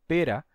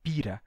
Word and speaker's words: pira: Então, apesar das pessoas estarem dizendo pera, nessa pronúncia, a gente vai recuperar o som antigo e vai dizer pira. Escreveu com I é I, escreveu com E é E.